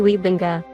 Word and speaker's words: Wybenga: groningen in the netherlands so the correct way to pronounce it would be gary wiebenga i have seen him